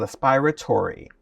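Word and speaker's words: aspiretory: It's called aspiratory. And it's spelled slightly different because aspiratory is spelled with an A, A-S-P-I-R-A-T-O-R-Y.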